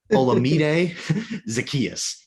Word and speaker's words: Olamide Zaccheaus: Olamide Zaccheaus.